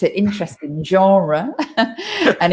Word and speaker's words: genre: the premiere like the genre both of those words come from french and we try in